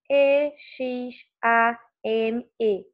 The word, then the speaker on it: exame: Nós falamos todas as letras dessa palavra? Sim, nós falamos exame. Então, nós falamos o som do E, o som desse X que tem o som de Z, tá?